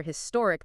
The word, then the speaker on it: historic: not just the letter historic that H is pronounced so it's a historic event but you'll hear in